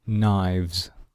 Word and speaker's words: knives: Okay, the pronunciation, we must hear the letter V in the plural.